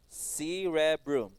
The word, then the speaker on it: cerebrum: Cerebrum. Number two, cerebellum. Okay, and number three, we have brainstem. Brainstem. Okay, very good. What is number one again? Cerebrum. C, re, broom. Three syllables. Cerebrum.